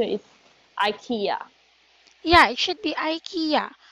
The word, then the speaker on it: IKEA: Do you know IKEA?